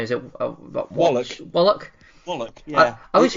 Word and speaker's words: Wallach: always Well, feel- this, obviously CH in the English language can be pronounced ch, but it can also be k, and it is that k sound.